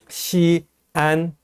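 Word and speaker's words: Xi'an: 그래서 시안은 이음절이고요. 시엔 하는 것은 일음절입니다.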